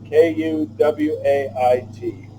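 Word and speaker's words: Kuwait: try to wait myself k UW AIT been there many times muttering it rhymes with you wait okay there we go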